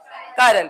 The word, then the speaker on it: chiral: वैसे इसका प्रोनाउंसिएशन क्या है, कायरल कार्बन, क्या प्रोनाउंसिएशन है, कायरल, बट आप चिरल बोलो यार, ठीक है, टेंशन नहीं।